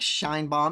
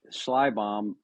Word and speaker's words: Schleibaum: guest today is Shine Bomb. Am I pronouncing that right? Schlly Bomb. But I mean it I might be saying it wrong too.